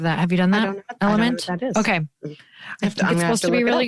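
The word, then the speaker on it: LMNT: have you done that element okay supposed to be really good it's l m NT is I believe how it's spelled but element is how they say it anyway but I was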